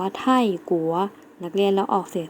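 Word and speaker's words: 泰国: คะ คือ ประเทศ ไทย ประเทศ ไทย เรา จะ ออก เสียง ว่า ไท่กั๋ว นัก เรียน แล้ว ออก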